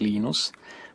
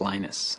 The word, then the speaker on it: Linus: I speak Finnish it's lenus when I speak English it's lonus and I really don't